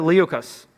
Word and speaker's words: Liukas: author illustrator and she's much more actually Linda Lee okis you pronounced my name perfectly without even we having